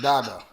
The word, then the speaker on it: Dada: Dada, you're really supposed to say Dada. Put your mic this way, Chief. Yeah. Yeah. It's really pronounced Dada. Dada.